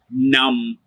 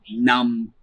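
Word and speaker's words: numb: at it goes like num repeat after me num num yet again the b is silent we don't say it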